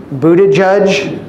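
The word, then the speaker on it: Buttigieg: the AIPAC line what Pete booted judge that's how you pronounce his name okay what he is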